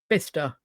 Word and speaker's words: Bicester: But then to be fair, we do it with things like Bicester. I mean, that's not how that's spelled, is it?